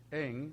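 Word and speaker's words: ἐν: la preposición por que en el griego es en o sea se pronuncia en significa en conexión con mediante y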